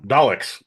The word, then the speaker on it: Dalek: Delech. Uh, I guess is how you pronounce like the like the Doctor Who thing. Oh, yeah. Daleks. Y Dalek. That's how you pronounce it.